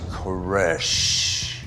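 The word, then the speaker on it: Koresh: He said, "My last name is like that last exhalation of breath, a death now. Um, it's Kesh."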